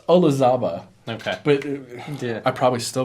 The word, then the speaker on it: Olazaba: This is Lemire, Ramos, Olambus, and Delgado. I totally butchered that. It's Olazaba.